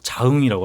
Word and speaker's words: 장흥: 네, 그 지역 분들은 장흥이라고 발음하지 않고 자흥이라고 하거든요. 자흥이요? 자흥. 왜요? 그리고 좀 더 오래 사신 분들은 짜흥 그래요.